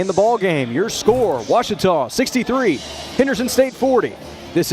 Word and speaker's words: Ouachita: Get it right. It's Ouachita, people. It's Ouachita. Ouachita.